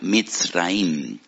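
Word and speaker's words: מצרים: esclavitud porque la palabra Egipto en hebreo se pronuncia mit raim y en hebreo hay dos MS dos letras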